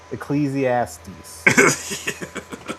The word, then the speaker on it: Ecclesiastes: Ecclesiastes.